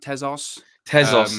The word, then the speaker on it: Tezos: um training kit partnership with how do you pronounce that is it tezos tezos yeah yeah it's a new uh manchester united